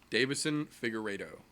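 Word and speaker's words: Deiveson Figueiredo: name deva siddha ciggarete Oh Davison Figueredo there's no a there Davison who is blue he's blue going against joseph vanassa vit is Benavidez you can just call him mr.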